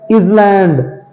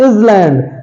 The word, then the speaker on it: island: People says island. Island. No, it's not island. It's island. Island. Duke. So here S is silent because S comes before the letter L. And the rule says whenever S comes before the letter L, S becomes silent. Okay. So this word is called as island, not island.